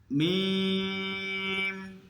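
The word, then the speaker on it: ميم: মিম মিম মিম। আর এখানে মিমের উচ্চারণটা হলো শুকনা ঠোঁট থেকে উচ্চারিত হবে, আর বীজা ঠোঁট থেকে বা উচ্চারিত হয়, আর শুকনা ঠোঁট থেকে মিম উচ্চারিত হয়।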